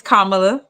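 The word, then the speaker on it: Kamala: now um and let's pronounce her name right it's kamla um KLA okay and listen I'm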